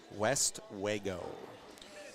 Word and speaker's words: Westwego: see in Colorado nope West wo it's it's pronounced West Wego though is it mhm